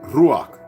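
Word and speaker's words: רוח: ] word what's the Hebrew word for Spirit ruak pronounced ruak is the Hebrew word for Spirit Ru root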